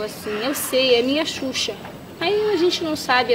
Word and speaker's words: Xuxa: ¿Cómo se pronuncia? Xuxa.